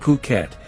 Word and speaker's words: Phuket: you the history of fukat fukat pronounced puket is Thailand's largest island